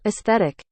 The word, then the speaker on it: aesthetic: the syllable breaks so this tells you that this is a one two three syllable word okay so let's listen aesthetic aesthetic that's pretty slow I mean pretty fast too fast aesthetic aesthetic slowed down now